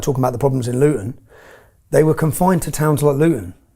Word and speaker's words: Luton: Luton Luton, we don't pronounce our T's in Luton, but Luton is 30 mi north of London.